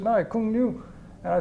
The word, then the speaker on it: Cuong Nhu: I couldn't even pronounce it. And they said, no, Cuong Nu.